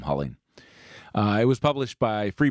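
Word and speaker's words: Huling: Jim cooling or hulling Jim's last name is spelled hu Li ng I'll call him howleen it was published by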